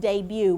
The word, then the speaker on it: debut: It's a foreign word and it is pronounced debut. Would you read it with me, class? Debut. So when you come to this word, we're not going to say the t.